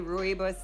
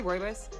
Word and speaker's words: rooibos: Some people say rooibos, some people say rooibos. I say rooibos, that's how I was trained.